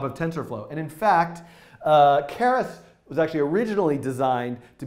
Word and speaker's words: Keras: I don't know how to pronounce it. Keras.